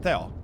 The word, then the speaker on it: Tio: Well, it's pronounced Theo, but yeah, not Tio. Tio is with an H. I don't have an H in my name. It's just Theo.